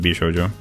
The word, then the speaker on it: bishoujo: B in Japanese is always pronounced like in by would be what you're saying. It's not like English where it has to be pronounced in different ways.